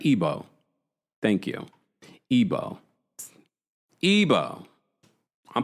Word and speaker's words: Igbo: Ebo. Ebo. Ebo. Right. Ebo. Thank you. Ebo. Ebo. I'm part of the tribe. Come on now. Okay. Thank you so much, guys. You know the G is silent.